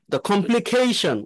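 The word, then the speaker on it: complication: কিভাবে উচ্চারণ করতে পারে কমপ্লিকেশন এই যে কেশন এই সিএ এর উপরে হচ্ছে আপনার স্ট্রেস দিতে হবে আমরা যদি এটাকে ফনেটিক্সে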